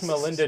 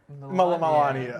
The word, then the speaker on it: Melania: Wish Melinda Trump a happy birthday. Melinda? How do you say Melania? Melania.